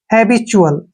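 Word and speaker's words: habitual: लिखेंगे ठीक है ना और जब भी टी के बाद यू आता है तो टी का उच्चारण च हो जाता है यहां ध्यान रखना है के बाद जब भी यु आए तो टी का उच्चारण च होता है इसलिए हम इसको च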